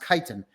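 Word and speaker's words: chitin: the kiten it's it's spelled chitan but it's pronounced kiten the kitens in there are a god- awful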